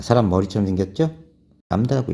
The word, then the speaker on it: 람다: 람다라고 읽어요. 람다.